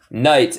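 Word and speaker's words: knight: Night es noche. Noche. Night es noche. Y también, para crédito extra, hay un otro tipo de night. Cuando agregamos K al principio de palabras, se pronuncia el mismo, night.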